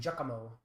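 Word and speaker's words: Giacomo: It's interesting how has both jock and jakamo. Two different jocks spelled completely differently. It's spelled jack or you spell jock j a cq.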